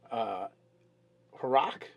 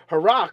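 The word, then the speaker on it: Haruuc: And I would pronounce it Haruk because it's H-A-R-U-U. Haruk.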